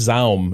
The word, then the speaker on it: ZA/UM: Well, the slash makes Zaum impossible, right? I say Zaum. Yeah, Zaum. Zaum. Zaum. That's a much cooler way of saying it than ZAUM.